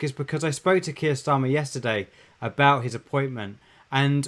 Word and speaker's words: Keir Starmer: Keir Starmer, yeah, that's how you pronounce it.